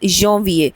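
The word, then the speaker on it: janvier: first one is January we से इट एज़ यविए so again let's just break it down so य जे ए एन and then we आई ई आर सो यवीए यो वीए then we have फ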